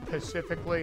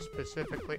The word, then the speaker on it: specifically: of the guys that would say pacifically instead of specifically I don't know man